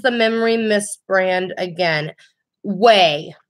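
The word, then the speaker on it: OUAI: Way. It's spelled O-U-A-I.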